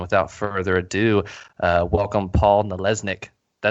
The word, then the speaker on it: Nalesnik: And without further ado, welcome Paul Nalesnik.